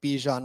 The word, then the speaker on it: Bijan: this category the world wants you to take Bijan Robinson everybody I'm glad you said it I'm